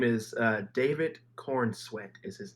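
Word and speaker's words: Corenswet: name is uh David Corn sweat is his name did you just say corn sweat that is his name like if you are eating corn and sweating like profusely MH like if corn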